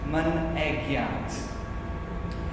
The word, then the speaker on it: Mynegiant: The first syllable is mun, as in come on man. The second syllable is egg, as in boiled egg. And the third syllable is yant, Mynegiant.